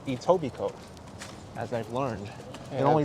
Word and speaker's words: Etobicoke: pronunciation of edible Coke it's not edible Coke it's Etobicoke as I've learned it only took me a day to learn that it's not edible Coke or a Toby Coke and what was the